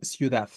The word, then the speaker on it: ciudad: Eh, ¿Cuál es la sílaba tónica de ciudad? Dad, ¿no? Específicamente, la última, es una palabra aguda también, pero de todos modos, entre la I y la U se va a formar un diptongo.